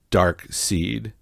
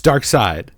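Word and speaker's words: Darkseid: that game so disappointed why did we both think it was pronounced dark seed it's dark side it's dark side right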